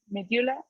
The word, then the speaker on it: medulla: of the medulla medulla it's the pronunciation okay it's medulla yes and this is like an iu sounded in in spanish just as simple as